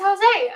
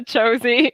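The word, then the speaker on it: José: it's like jenny jones i definitely mispronounced that name i definitely pronounce to josie because i didn't know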